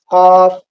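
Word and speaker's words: ك: बाद आता है काफ इन दोनों के दरमियान बड़ा फर्क है कफ ये मुंह भर कर बोला जाता है और पुर बोला जाता है इसके अंदर क्या दूसरा होता है काफ ये बारीक बोला जाता है कफ कफ आपको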